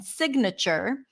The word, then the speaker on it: signature: G is not pronounced but when this word has a different root like has a suffix like in signature right then here we do pronounce the G so sign signature um and Slumber even